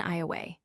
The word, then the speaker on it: Iowa: The local pronunciation of Illinois I have already noticed Iowa at home is often eyeway.